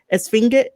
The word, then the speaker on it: Esfinge: is listening to this, do not put so much emphasis on the G. Make it like a soft G when you say it, so that way it could just be Esfinge.